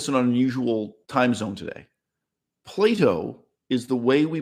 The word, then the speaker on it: Plato: get people complaining that I pronounce the name Plato like the children's toy Play-Doh but that is the